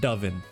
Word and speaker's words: Duiven: you pronounce this and he said the RL doen that's how you that's it's it's a Dutch apparently it's dutch for dove so listen I I